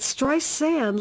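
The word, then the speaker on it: Streisand: about it watch strien I said my name is with a z it stri sand like sand on the beach now how simple can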